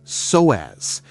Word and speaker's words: psoas: Meet your psoas muscle, pronounced as psoas.